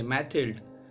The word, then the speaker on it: Mathilde: हमारी main protagonist है मैथिल्ड, तो ये फ्रेंच प्रोनाउंसिएशन है, वैसे इसके बहुत से प्रोनाउंसिएशन है, कोई कोई तो इसे मैथिल्डी भी प्रोनाउंस करता है। तो यहाँ पे प्रोनाउंसिएशन पे ज़्यादा ध्यान मत दीजिए क्योंकि इसके बहुत से प्रोनाउंसिएशन है, हर एक कंट्री में इसका प्रोनाउंसिएशन अलग है।